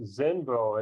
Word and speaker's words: Xenvo: It's called, I guess it's pronounced Zenvo. It's XENVO Bluetooth remote.